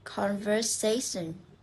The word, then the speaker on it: conversation: So, words ending in this. We stress in the second last syllable.